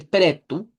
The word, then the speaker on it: preto: Y la de pretu, sí. Entonces, recordar siempre que todo lo que se escribe con o se pronuncia con u está al final.